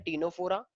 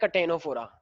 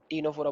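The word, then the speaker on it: Ctenophora: और ये 9th में नहीं था, अगर तुम्हें याद हो, तो इसे बोलते हैं टीनोफोरा, कुछ लोग बोलते हैं कटेनोफोरा, नहीं, टीनोफोरा बोलना है।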